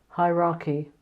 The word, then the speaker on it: hierarchy: a hierarchy I think the thing here to notice is the pronunciation it's a very hard sound in the middle hierarchical hierarchy and the organization is